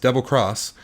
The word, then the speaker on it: Monster Hunter XX: Capcom has announced that Monster Hunter xx pronounced double cross is heading to Nintendo